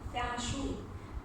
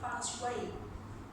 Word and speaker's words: Feng Shui: The first one is Feng Shui. It's like how we look at the letter and we pronounce it, Feng Shui. And the second one is Feng Shui.